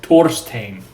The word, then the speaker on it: Thorstein: quote me on that thorstein oathbreaker come to beg forgiveness okay so we already established that it's not pronounced thor is pronounced thor so it's not thor stain is torstein thank you very much you're